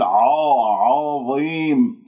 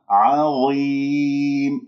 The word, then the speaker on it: عظيم: العين مرققة، الضاء مفخمة، مرتبة أخيرة خامسة، فأنت خطأ تقول عظيم، فخمت العين بسبب الضاء وفخمت